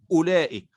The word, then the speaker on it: أولئك: وكأنه غير موجود، فنقول أولئك ولا ننطق بالواو فلا نقول أولئك.